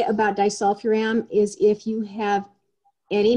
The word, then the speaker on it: disulfiram: treating mold and babesia and taking, I cannot pronounce this word, diacetyl, the disulfiram, Oh, disulfiram?